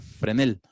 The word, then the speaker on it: Fresnel: se llamó Agustín Vázquez Fresnel, que realmente se pronuncia Fresnel.